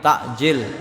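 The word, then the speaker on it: تعجيل: SAW bersabda laa yazaluna takjil pakainya Ain takjil menyegerakan sama-sama takjil tapi kalau pakainya Hamzah takjil pakainya Hamzah itu menunda bacanya hampir sama kalau dalam bahasa Indonesia takjil bahasa pakai air itu menyegerakan takjil pakainya Hamzah takjil maka menunda nah takjilul Fitri menyegerakan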